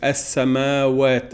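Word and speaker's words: السماوات: As-samawat, as-samawat. It's pronounced with a long a.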